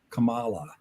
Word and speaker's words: Kamala: But Vice President Kamala Harris has expressed that she prefers to be called Kamala.